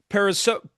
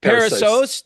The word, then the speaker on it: Perissos: Now Paul is the founder of Pariso. Paul pronounced that. I knew I was going to botch that word. Peros. Parasos.